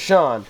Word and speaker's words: Sean: as you all know my name is sean and it's spelled the irish way s-e-a-n but he wants to